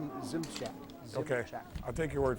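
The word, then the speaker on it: Szymczak: I'm just going to take a stab at smizak yeah yeah it's well it's gymsic yeah Zim check yeah s-z-y-mcza Zim Shack okay I'll take your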